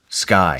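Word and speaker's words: Sceye: Sigh. Is that how you say it? Sky.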